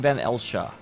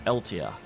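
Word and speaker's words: Van Eltia: I think I was saying Van Elcha, and it's Eltia.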